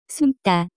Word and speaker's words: 숨다: The pronunciation of this word is closer to. 숨다.